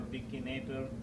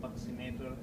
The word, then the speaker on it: buccinator: So this is your buccinator or buccinator, depending on how they say it.